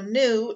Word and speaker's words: gnu: So new is what the animal they are. GNU is how that's spelled.